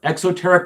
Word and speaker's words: exoteric: about magic from an exoteric perspective exoteric with an X because I've noticed my pronunciation tends to be misheard every now and then okay in the post-tridentine